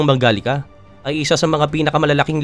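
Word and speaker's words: Mangalica: Ang Hungarian Mangalista na binibigkas bilang Mangalika ay isa sa mga pinakamalalaking lahi ng baboy sa mundo.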